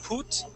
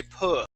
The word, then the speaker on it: put: So instead of saying put, okay, using a long U sound, we're going to say put.